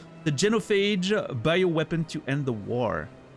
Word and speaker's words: genophage: I I for some reason I wanted to pronounce it in the French way. Genofage. the genophage bioweapon to end the war.